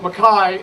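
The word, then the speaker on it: McKay: This particular tartan is Clan Mackay, spelled M-C-K-A-Y, pronounced Mackay in Scotland.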